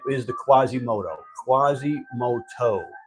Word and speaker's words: Quasimodo: right is the Quasimodo Quasimoto Quasimodo right Quasimodo that's how you say it French right Quasimodo all right